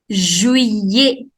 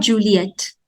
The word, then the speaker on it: juillet: Juillet. That's not Juliet. No. juillet, juillet, July, juillet. Whenever I-double-L comes together, you do not pronounce double L.